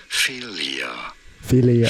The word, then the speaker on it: philia: How do you go about pronouncing it? Philia.